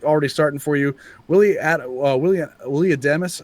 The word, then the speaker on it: Adames: Willie Adames, I keep pronouncing his name wrong. I keep wanting to call him Adams.